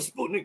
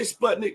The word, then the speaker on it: Sputnik: I say Sputnik, but someone told me that it is Sputnik. So sometimes you'll hear me go from Sputnik, my country voice, to Sputnik. I guess the proper way to say it, okay?